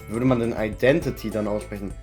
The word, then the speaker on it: identity: thing identity I identity do not pronounce the T stop pronouncing the T in English don't say identif Identify say identify identif sorry identity I'm shocked you'd call